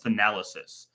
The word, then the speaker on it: Thanalysis: But the podcast is called Thanalysis. So the A is pronounced differently. Thanas and then Thanal.